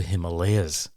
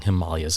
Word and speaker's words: Himalayas: One other term that he used, which I completely understood, was his pronunciation of the Himalayas, which I had always been taught was the Himalayas.